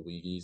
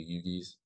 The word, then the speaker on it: Uyghurs: Sorry, I think it's pronounced like the Uyghurs or the Yugis.